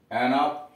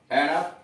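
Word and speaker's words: enough: लेकिन बाद में जब रोमन प्रभाव हुआ तो रोम के प्रभाव की वजह से GH साइलेंट हो गया, अथवा सॉफ्ट उच्चारण GH का यफ हो गया। इसीलिए आप पढ़ते हैं कफ, एनफ, पूरा उच्चारण नहीं, सॉफ्ट कफ, एनफ।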